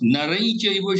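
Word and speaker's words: नरं चैव: But your pronunciation is, it sounds like Naran Chaiva, not Narain Chaiva. Ya is not sounding.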